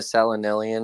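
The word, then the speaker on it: selenelion: you spelled it perfectly it's like the name Seline and then lion Seline lion probably comes from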